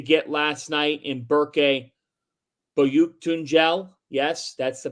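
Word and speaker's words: Büyüktuncel: They didn't get the performance that I think they would have liked to get last night in Berke Boyuktunjel. Yes, that's the pronunciation of that.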